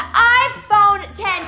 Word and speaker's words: iPhone X: the day that the iPhone 10 came out also known as the iPhone X it is spelled iPhone X pronounced iphone 10 you guys I am